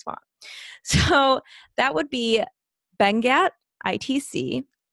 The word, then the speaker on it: Benguiat: So that would be Bengat, ITC. Not spelled how it sounds. It's spelled Benguiat.